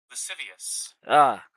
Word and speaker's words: lascivious: Let's see how we pronounce that. Lascivious lascivious.